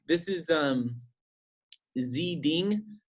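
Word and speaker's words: Xi Ding: like this is um Zee ding it's spelled X I and then D ing he's a caricature artist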